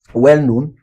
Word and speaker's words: well-known: Then for compound verb and adjective, well-known is for adjective. Well- known. What do we stress? We stress the second, right? So known is the stress.